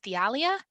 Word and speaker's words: Thealia: or queen queen feli i always pronounce it wrong i think it's the alia yeah thealia um and then is